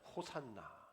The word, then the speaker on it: 호산나: 그런 일들이 있었어요 그것을 연상했겠죠 그러면서 외치는이 한마디 호산나 히브리어로 호시아나라는 뜻인데 이것을 헬라어로 그냥 발음으로 한 호산나이죠 우리를 구원하소서라는 뜻이에요 잘 오셨습니다